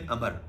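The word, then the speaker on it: عمرو: कुरैश की तरफ से नुमाइंदगी की थी सुहेल बिन अमर ने। सुहेल बिन अमर, इसको अमरो भी बोलते हैं लेकिन सुहेल बिन अमर जो है इसकी बेस्ट प्रोनाउंसिएशन है, उसने की थी।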